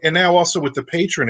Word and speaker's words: Patreon: use that so so patron it's they pronounce it patron because I've watched all their seminars and all their different